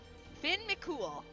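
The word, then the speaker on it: Fionn mac Cumhaill: How to pronounce Theon M It's literally Finn Mcool. Finn Mcool. Finn Mcool. Okay. Vinn Mcool here I come. It's literally that.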